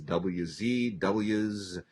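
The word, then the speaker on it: W'z: We also have the complete collection of, I guess the way to pronounce this is WZ. It's a W apostrophe Z.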